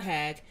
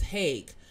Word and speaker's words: Haag: it wrong i say it wrong it's not hag it's hague and you know why it's called hague it's